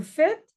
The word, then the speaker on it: faites: Vous faites le S et le le E et le Z pardon le E et le S ne se prononce pas.